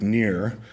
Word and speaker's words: Knirr: This is one of the most famous on the right by Heinrich Nier. I'm not sure you need to know these guys, but it's spelled K-N-I-R-R.